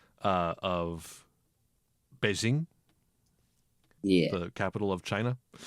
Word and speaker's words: Beijing: Because like it's written like Beijing and most people like say Beijing. If I remember correctly, the way it's pronounced is something more akin I'm not going to get this perfect because I don't know Chinese, but it's more akin to like binging.